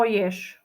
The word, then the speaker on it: jež: Poďme na ďalšie slovíčka slovo jež je to zvieratko a na konci tohto slovíčka je napísané písmenko ž ktoré sa vyslovuje ináč Však Počul si tam ž je ž No nepočul Ja som to vyslovila ináč ješ na konci počujeme š ž písmenko ž spoluhláska